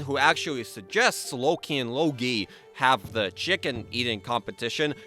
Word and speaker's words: Logi: Lastly, for enchantments, there is Logi, not Loki. Logi rhymes with pierogi, who's the personification of fire.